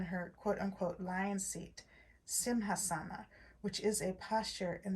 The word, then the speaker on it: Simhasana: unquote lion seat, pardon me, or Simsahana. Pardon me, I didn't say that correctly, I think. Let me try again to say the lion seat, and I think it's Sanskrit. Simhasana. Maybe I did say it correctly.